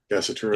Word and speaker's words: Gasatura: Father Darius Gasatura, is that how you say his name, Canon? Gassitura, yes.